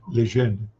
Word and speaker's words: Lejeune: A pronúncia do meu nome em francês, você não fala o U, né? Lejeune.